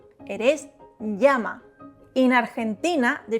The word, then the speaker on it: llama: The double L, elle, is pronounced like ya, ye, yi, yo, you. It is not llama, it is llama.